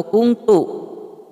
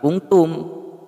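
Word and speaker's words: كُنْتُ: Ada yang bertanya, di kalimah La ilaha illa anta subhanaka ini kuntum atau kuntu? Dibacanya kuntu ya, bukan kuntum. Kalau kuntum beda, jadi artinya jamak.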